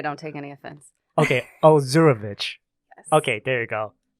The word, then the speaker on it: Ozurovich: It took me till third grade to know how to pronounce it properly. So okay, I don't take any offense. Okay, Ozurovich.